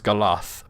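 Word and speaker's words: galadh: One is one is Galad and the other is Galath, but it's spelled with a DH.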